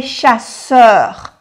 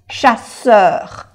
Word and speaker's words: chasseurs: Aquí hay dos S. Entonces se pronuncia la S bien fuerte, bueno, bien pronunciada. Les chasseurs. Aquí es chasseurs.